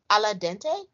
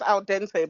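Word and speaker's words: al dente: was she or he said that it was alad Dente or he said it he said it was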